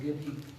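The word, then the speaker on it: גדי: Es Gedi. El cabrito que estamos viendo no cocerás es Gedi.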